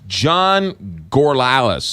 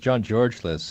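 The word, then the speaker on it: John Georgelas: Louis thank you who is John gorl Alice or Gore's of Corliss who was that yeah it's actually pronounced John George Liz and he's an American he's a countryman of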